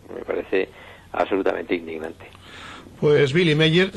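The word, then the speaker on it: Willy Meyer: Pues Billy Meyer, se escribe con W, pero se pronuncia con B. ¿Eh? Sí, muchas gracias. Billy Meyer, lo dejamos así.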